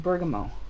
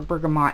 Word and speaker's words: bergamot: i said it's a rosemary lemon ringling and bergamo or bergamot however you want to pronounce it and it's very